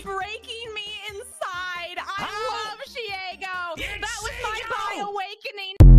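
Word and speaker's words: Shego: It's Shiego, like Diego. It's not Shigo.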